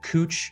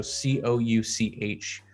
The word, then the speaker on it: Couch: portland um you have cooch street which is spelled like couch so c-o-u-c-h cooch not couch and if you're looking